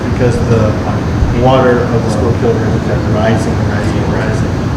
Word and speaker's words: Schuylkill: I learned how to pronounce the Schuylkill too in that movie. See the water right down there. That's the Schuylkill River.